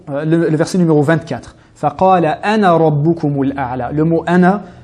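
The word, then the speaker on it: أنا: Ce cercle signifie que la lettre alif ne se prononce pas lors de l'enchaînement.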